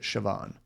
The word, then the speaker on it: Siobhan: Because yeah, I had a coworker with the same name, and she always pronounced it Siobhan.